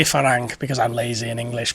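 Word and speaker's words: ฝรั่ง: not interested in farang uh I'm trying to pronounce my farang right because people keep I I say farang because I'm lazy in English but it's actually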